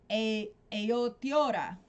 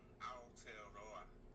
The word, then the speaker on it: Aotearoa: I would love to talk to Stu because Stu is from, and I always mispronounce this, Aotearoa.